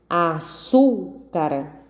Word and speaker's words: açúcar: Açúcar. Então, a sílaba tônica é o su, 3 sílabas.